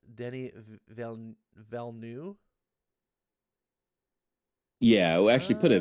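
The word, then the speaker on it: Denis Villeneuve: okay um you say his name wrong his pronounce denny valeneu yeah actually put a v at the at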